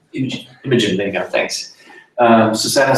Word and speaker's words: Imogen: But I found that the discussion, featuring people like John Campbell, Imogen Dickey, I never know how to pronounce her first name, Imogen, there you go, thanks.